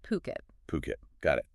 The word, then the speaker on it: Phuket: It's pronounced Phuket.